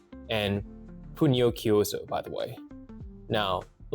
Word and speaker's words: Pugnochiuso: That's pronounced officion technique and Puno Kyooo, by the way.